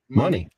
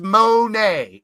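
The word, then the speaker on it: Moné: Say the word money. Money. Now take the E off and make it A. Money. She never says Monet.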